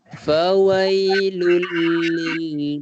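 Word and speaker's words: فويل لل: Fawailul, lul tu tanwin bertemu lam, idgham bila gunnah, memasukkan tanpa dengung. Kita bacanya fawailul terus, L-U-L. Tak ada kita baca dengung. Fawailul lil ataupun fawailun lil. Tak ada dengung. Dia terus masuk.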